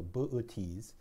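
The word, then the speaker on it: Boötes: constellation called looks like booties booties The New Yorker would put an umlaut on that second Oh to make it clear that there should be a break in the syllable so booties booties is the herdsman right now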